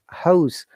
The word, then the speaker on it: house: Name, house. Okay, remember when house as a noun, that house s is like a s sound. When it is like a verb, it is z sound, like housing, z, house.